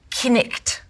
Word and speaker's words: knight: The word knight, knicht.